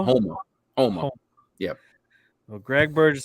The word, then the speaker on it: Houma: Oma? Homa.